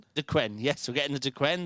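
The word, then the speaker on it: Duqueine: We're getting the how do you pronounce that one? Uh the Dquen Dquen.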